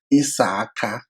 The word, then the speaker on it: Issachar: For example, Issachar in Igbo language is pronounced Isaka, which gives us, a long a sound, which could be wrong in their own phonetics. So they will rather say Issachar.